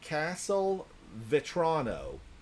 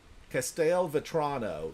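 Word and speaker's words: Castelvetrano: This is a Castle Vrono. Castell Vrono. C- A S T L V E T R A N O.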